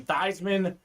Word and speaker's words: Theismann: time, but growing up, his name was pronounced Theismann. When he was at Notre Dame, they were trying to campaign for him to get the Heisman Trophy, and he changed his name to be pronounced Theismann. It became Theismann for the Heisman, Mr.